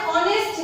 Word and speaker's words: honest: वापस ये जो H है that is a silent letter. हम लिखते हैं H, बट हम जब प्रोनाउंसिएशन करते हैं, बोलते हैं, तो हम इसको honest नहीं honest बोलते हैं, ठीक है?